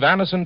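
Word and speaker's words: Anacin: Get a handy box of Anison tablets at your druggist tonight. For most effective relief, use only as directed. It's spelled A-N-A-C-I-N.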